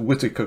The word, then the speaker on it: Whitacre: is the Eric whitacres I think we pronounce it Whitaker choir and you can